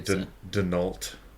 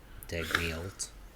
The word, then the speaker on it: Dagnall: Can I say Denault? Dag. Is it a silent G? Dagnall. It's not a silent G, but it is emphasis on the first syllable.